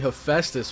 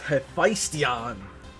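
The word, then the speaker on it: Hephaestion: I thought it was supposed to be Heestus when I first read it, but it's Heistion, whoever the heck that is.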